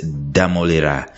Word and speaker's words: Ddamulira: talk to director Alice damolira Alice is that how your name is pronounced yes when you come from Western Uganda it's difficult to pronounce demolera you can say yes how are you doing